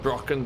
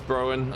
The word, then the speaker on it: Broen: as I call it, I know some people do pronounce it Brocken, but for me it's Broen, and it's too new and too shiny to do anything with like this.